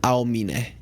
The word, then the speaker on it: Aomine: So, the name is pronounced Aomine.